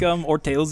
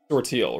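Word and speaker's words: Orteil: Ortale, right? Yeah, I think Orteu is how it's pronounced. It's French for toe.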